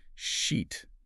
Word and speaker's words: sheet: Sheet, like for your bed, has that long E sound, like sheet. Right?